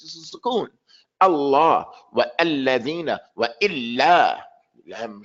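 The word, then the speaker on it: الله: So the name of our Lord is Allah. Allah. It's not Allah. It's not Allah. Allah. Allah. That's his name. It has a shadda in. You have to pronounce it correctly.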